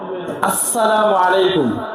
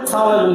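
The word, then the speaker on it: السلام عليكم: সিনের জবাব হবে এরকম, আসসালামু আলাইকুম। এইখানে কোনো সুযোগ নাই সালাম আলাইকুম বলার। সরাসরি আলিফ আর সিনের মাখরাজ উচ্চারণ করতে হবে, আসসালামু আলাইকুম ওয়া রাহমাতুল্লাহ।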